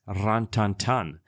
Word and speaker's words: Rin Tin Tin: to the fact that the dog's name is properly pronounced ranan or gantan sorry for my French as that would be a correct French version however since this was